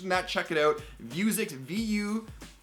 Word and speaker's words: Vuzix: Vuzix, VUWZIX, I believe is how they pronounced it, and it's the M100.